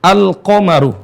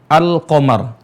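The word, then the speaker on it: القمر: sukun dalam keadaan sukun cara bacanya ini Al qomaru ya suara alamnya terdengar dengan jelas alqamar makanya para ulama menyebutkannya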